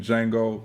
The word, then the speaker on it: Django: Now, on the other hand, like my dog Chaos, T is silent, like the D in Django, y'all with me.